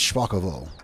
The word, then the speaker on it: Szpakowo: actually he said uh he said that I was correct if I was using Russian but uh it's polish I commented back and I said yeah actually I don't know how to pronounce polish so yeah so apparently it's shako all right so I